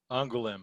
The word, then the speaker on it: Angoulême: You may have to help me this on Derf, how the prize is pronounced. Angoulême.